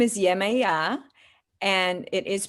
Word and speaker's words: Yemaya: on a new epic journey her name is yamaya but it's pronounced in different ways and tell us what is the correct pronunciation how you depict her in the book so her name is yemaya and it is pronounced differently all around the world yamaya is